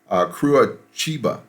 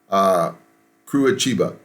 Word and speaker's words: Curitiba: The city, as it's spelled, you see, is actually pronounced Curitiba. Curitiba.